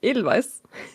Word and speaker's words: Edelweiss: Well, if we pronounce it in English, we pronounce it wrong. Mm-hmm. Because it's German, so we are the ones who pronounce it the right way.